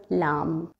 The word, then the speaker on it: lamb: MB, لما تكون موجودة الكلمة فيها آخرة MB, always the B is silent. Such as climb or lamb.